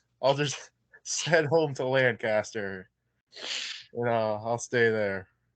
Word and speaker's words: Lancaster: something close to that no it's a lancaster uh everybody wants to pronounce it this way try and get one over on everybody but it's lancaster lancaster wild then i'm i'm